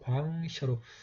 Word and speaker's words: ᄀᆉᆼ셔: 이 과를 먼저 읽고 이음을 읽어서 광셔로 발음을 하면 되겠습니다.